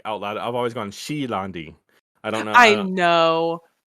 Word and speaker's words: She'landi: i uh i really i always say shalondi because i'm lazy but i always want her to be pronounced like shay londy because it sounds more elegant but i'm always lazy